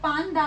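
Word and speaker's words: パンダ: सो जैसे कि जो वर्ड्स हैं पांडा विच मीन्स पांडा। सो पांडा में जो ये वाला न है इसको हम न की तरह प्रोनाउंस करेंगे, पांडा, पांडा।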